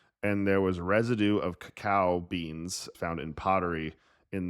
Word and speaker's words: cacao: or what, but I always thought people were mispronouncing cocoa. yeah, the bean itself is called cacao, and then cocoa is more of one of the products that's from the bean.